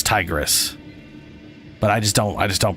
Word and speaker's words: Tigris: Or I say Tigris, but I'm pretty sure it's Tigris.